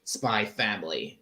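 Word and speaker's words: Spy × Family: keep making that mistake the x is actually it's spelled spy X family but you just say spy family right right it has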